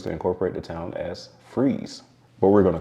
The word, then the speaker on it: Fries: is Fries Virginia well it's actually pronounced freeze Virginia not fries like the food freeze is located in